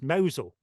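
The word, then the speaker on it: Mousehole: moved to this Village which is spelled mouse hole and pronounced mosul so we living in Mosel and this guy Gus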